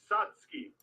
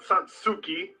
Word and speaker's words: Satsuki: say let's hear it it's satki not Satsuki satki satuki Japanese is phonetic it's phonetic it sounds exactly how it's spelled you're terrible ryuko ryuko